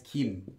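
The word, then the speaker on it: 김: hunt up with it Kim this is actually the hunt supper team but it's originally come for gold but when it's used for a person's name it's read as Kim um every single person's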